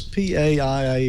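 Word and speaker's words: PAIA: Yeah, I think it was P-A-I-A is how you pronounced it.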